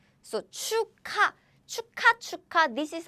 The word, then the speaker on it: 축하: So 축하, 축하, this is how we pronounce.